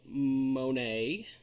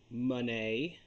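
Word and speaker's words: Moné: so this here is Mercedes Monae Monee I've heard her pronounce it both ways uh Sasha Banks for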